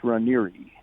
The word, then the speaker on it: Raniere: Well, there's two pronunciations. Most people pronounce it Rainier, like you said. Okay. But the Italian pronunciation is Ranieri.